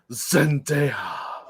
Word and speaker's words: Zendaya: top corner here yeah you gotta say it like perfume Zendaya Zendaya that's an ugly